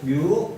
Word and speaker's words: μ: 자, 뮤 값이다. 뮤. 이거 그리스어 중에 하나인데 뮤라고 읽습니다.